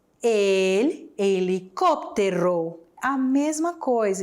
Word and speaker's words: helicóptero: E helicóptero, como é que falamos helicóptero em espanhol? Será que é igual? Será que é mais difícil de pronunciar? El helicóptero. A mesma coisa, escreve igual, muda a acentuação e também vai mudar a pronúncia, né?